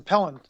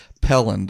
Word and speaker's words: Pelland: First one, Pelland. Yep. Pelland.